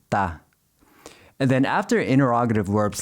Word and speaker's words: tá: In informal speech, você often gets shortened to se, and está usually gets shortened to tá.